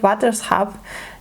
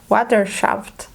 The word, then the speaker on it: waterschap: stuff like that, and the narrator pronounced them in a very English way, which bothered me a lot. Like, instead of waterschap, they said waterschaft, which honestly just sounds like when you put a Dutch direction in an English-speaking Google